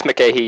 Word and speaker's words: McCahey: Did I mispronounce that name? It's McCahey, Your Honor.